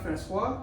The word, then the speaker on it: François: been good i'm good so how do i pronounce my whole names you not francois yes sir that's perfect that's perfect that's it